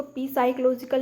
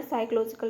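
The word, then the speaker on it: psychological: साइकोलॉजिकल association के style यहां पर पी साइलेंट है तो इसको पी साइकोलॉजिकल नहीं पढ़ना है साइकोलॉजिकल पढ़ना है स्टाइल गाइड में किया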